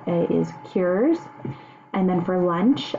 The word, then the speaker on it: qurs: The word breakfast is how you say it is cures.